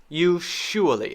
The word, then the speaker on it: usually: all right so u-s-u-a-l-l-y one way to say this which is correct in some places uh is you surely and some people really will say it like that but i i do not want to teach you that one i'm teaching you american english so in american english we say this one as yeah so my teeth